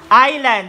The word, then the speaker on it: island: to the third words island the silent letter is silent letter s Island popular tourist destination